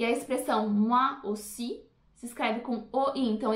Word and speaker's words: aussi: E a expressão moi aussi se escreve com OI, então esse OI tem som de UA, moi. E o AU de aussi tem som de O.